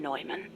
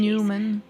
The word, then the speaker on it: John von Neumann: His name was John von Neumann, a mathematician with superhuman computational I thought you pronounced it abilities Newman.